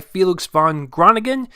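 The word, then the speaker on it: Felix van Groeningen: comes from Amazon Studios and it's directed by felix von grana ghen i blue that's how you pronounce it and it stars timothy sha'lame as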